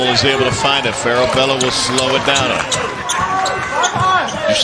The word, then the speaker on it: Farabello: Farabello, I say it like that. Yeah. Is that how they say it in Argentina?